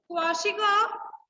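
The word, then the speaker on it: Kwashiorkor: So in this Kwashiko, what will happen?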